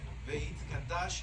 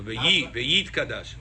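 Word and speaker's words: Veyitkadash: Veit Kadash Shemeh. No, ve'yit kadash.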